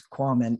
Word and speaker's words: Quamman: back with Korman is it common equipment I always just say it rhymes with Ramen you know I've only